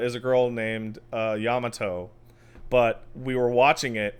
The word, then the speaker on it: Yamato: I'm like, "Yam, yamato.